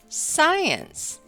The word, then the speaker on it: science: the SC consonant team the C is silent as in the words science and scent turn in your reading and phonics book to page 14.